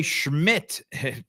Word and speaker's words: Szmyt: Andre Schmidt. Schmidt is spelled Szmyt. Andre Schmidt is sismite.